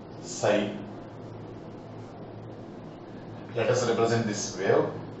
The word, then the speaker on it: psi: Okay, that is represented by the letter psi, pronunciation psi, S-Y-E, psi.